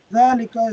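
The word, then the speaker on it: ذَٰلِكَ: Dhalika is pronounced as dhalika, but it is written without the alif.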